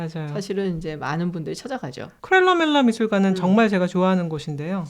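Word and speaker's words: Kröller-Müller: 어느 쪽 발음을 차용을 하느냐에 따라 다른 것 같은데 그래서 크렐러 밀러 할 때 그 위에 오물라우트 막 이렇게 붙고 막 크렐러 밀러겠죠. 독일어였잖아. 네. 약간 그래서 발음 제대로 해보세요. 크렐러 밀러 이렇게 밀러.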